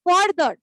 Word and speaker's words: further: একটা হচ্ছে ফার্দার, যেটা ফার থেকে আসছে, আর আরেকটা যেটা FURTHER থেকে আসে, সেটা হচ্ছে ফার্দার, ঠিক আছে?